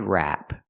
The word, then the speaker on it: wrap: rep a head rep it's pronounced a head wrap we use the a sound like black cat it's more open wrap wrap this is a head